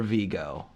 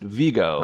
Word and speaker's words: Viggo: Is it Viggo or Vigo? You always pronounce it Vigo. I don't know. It looks like Vigo to me. It does. It is spelled Viggo, but I have always heard it pronounced Vigo.